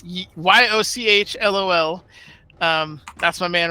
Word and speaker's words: Yochlol: Apparently, it's pronounced Yaklal.